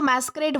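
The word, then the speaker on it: masquerade: अब यह जो मैस्क्रेट वर्ड है इसमें आप जो है वो इसे प्रोनाउंस जब करते हो तब आपको एक जो है वो मास्क यह वाला वर्ड जो है वो निकल कर आता है। मैस्क्रेट मास्क मास्क तो इस तरीके से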